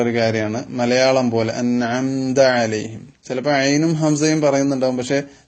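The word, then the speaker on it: عَلَيْهِمْ: നബി സലാം അലൈക്കും എന്നിങ്ങനെ ലേ ലേ എന്ന ഒരു എകാരത്തിലേക്ക് പോകാറുണ്ട് അത് ഇവിടെ അനുവദനീയമല്ല കാരണം ലാമിന് ഫത്ഹ് ഇട്ടാൽ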